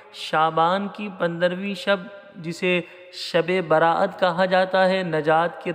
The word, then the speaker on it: شب براءت: کو پورا دیکھیے گا۔ سب سے پہلے اس تلفظ کو درست کر لیجئے، یہ شب براءت ہے۔ شب مانے رات، براءت نجات، یعنی نجات کی رات ہے، یہ جہنم سے آزادی کی رات ہے، چھٹکارے کی رات ہے۔ یہ جو عرف عام میں لفظ استعمال کیا جاتا ہے شب رات، یہ شب رات غلط تلفظ ہے، شب کوئی لفظ بنتا